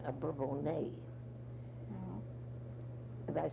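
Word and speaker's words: Bourbonnais: town we called it burr bonus but now they've taken the French pronunciation a bourbon a and I said it was a home of st.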